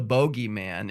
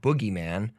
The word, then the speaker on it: Bogeyman: So if the Bogeyman is a Sith. But people actually pronounce it Bogeyman too. Really? Yeah, usually people from England, they'll say, instead of Boogeyman, Yeah. they'll say the Bogeyman.